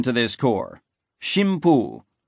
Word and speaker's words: Shimpu: name to this core, Shimpu, an archaic pronunciation of the Chinese idographs for God and wind. An alternate vernacular pronunciation was kamicaz, but that term did not come into common currency until later.